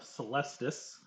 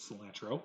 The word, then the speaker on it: Celestis: Zaus has himself a very lovely little tree fae wife by the name of Celestis, or as I pronounced it, Cilantro for the longest time.